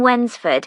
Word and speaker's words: Wednesford: She lives in Wensford, so you'll need money for the bus fare. Wensford? That's funny. It's like, when's the food? No, it's spelt Wednesford.